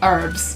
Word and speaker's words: herb: what do you think when Americans say herbs you're idiots I don't get it it has a h in front of it so it's a herb H H hey h herbs can I have the